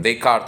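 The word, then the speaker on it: Descartes: कार्टीजन equation कार्तीय समीकरण देकार्त actually French नाम है तो व फ्रेंच उच्चारण यूज किया गया मेरे खल से कहने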